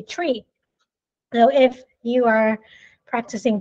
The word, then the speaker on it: tree: five is five or three is actually tree so if you are